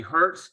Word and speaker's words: Hertz: And we have with us Melanie Hertz. Melanie, I forgot to ask you, do you pronounce it the same way, the car company?